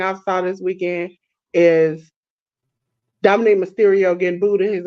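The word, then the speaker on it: Dominik: I told AEW the greatest thing I saw this weekend is Dominic Mysterio getting booed at his own wedding. Who? Dominic Mysterio. You know you saying Dominique instead of Dominic. Dominic.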